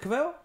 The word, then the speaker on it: Cavill: I can never pronounce his name. Henry Cavill. Cavill? Yeah. Cavill? Is it Cavill? It's Cavill.